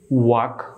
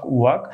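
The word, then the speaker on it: walk: কে দেখতে পাচ্ছেন এখানে এল কে এর উচ্চারণ করবেন কয়ের মতো তবে এল অনুচ্চারিত থাকবে তো সেই সুবাদে এই নিয়ম অনুসারে আমরা এই ওয়ার্ডগুলি সঠিক উচ্চারণ করতে পারি চক ওয়াক চক ওয়াক চক ওয়াক চতুর্থ ক্ষেত্রে যে নিয়মটি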